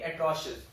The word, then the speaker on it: atrocious: एट्रोशियस, okay, over here it is sh sound. Okay, atrocious.